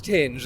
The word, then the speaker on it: Tinge: Ventanas, Digging Roots, and did you find out how to pronounce, is it Tinge or is it Tinge? It's Tinge, a band called Tinge.